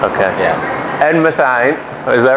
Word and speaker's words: Mathien: Mathien. Mathien? Mathien. I was thinking Mathien. Math and then Einstein. Okay. Yeah. Ed Mathien.